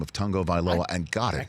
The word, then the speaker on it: Tagovailoa: or the fact that you finally attempted to pronounce his last name of Tagovailoa and got it right.